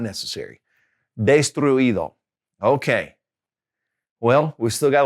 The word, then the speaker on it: destruido: ends with UIR, okay, then you don't have to put an accent on the I. Here's an example. Destruir, to destroy. Destruir, okay? So that past participle will be destruido. So we don't really have an accent there, all right?